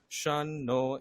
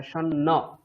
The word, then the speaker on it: शन्न: ओम शन्नो मित्रशं वरुणः शन्नो भवत्वर्यमा शन्नो इंद्रो শন্ন बृहस्पतिः। নয়, এটা শন্ন।